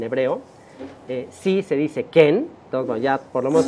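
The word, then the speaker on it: כן: lo en en hebreo eh si se dice Ken ent Ya por lo menos tienen ahí dos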